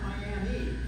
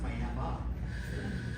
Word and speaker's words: Miami: Not Miami, because that's in Florida. If you want to go to the one in Arizona, it's pronounced Miami.